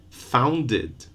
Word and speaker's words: founded: Found, one syllable. Founded, two.